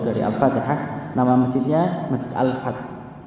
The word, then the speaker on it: Al-Fath: Saya bacanya Al-Fath. Bukan Ustaz, Al-Fath. Saya tuliskan. Ini dari kata Fatah kan begitu ya. Masih kalau bahasa. Kan kalau bahasa Arab kalau itu kan tulisannya Masjid Al-Fath, ALFATH. Ya, FATH.